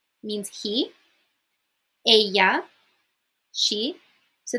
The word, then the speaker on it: ella: say l means he Aya she so the Double L in Spanish is pronounced like a y so a not Ella a noos is we